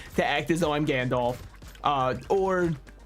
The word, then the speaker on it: Gandalf: act as though I'm Gandalf uh or I've been told that the corre correct pronunciation is Gand and I don't believe that for a second I think that that